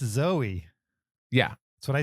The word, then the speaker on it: Zoe: You're like, I will definitely say her last name right, and I will always say her first name wrong. It's Zoe.